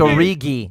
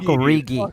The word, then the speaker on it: Origi: I've heard it Origi. No, it's Origi. It's Divock Origi.